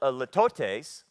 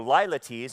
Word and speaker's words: litotes: Well, it's a litotes, or lilates, it's pronounced both ways.